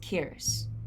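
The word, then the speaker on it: Kearis: My clan's name, well, my family name is Kiris. Like, how do you spell that?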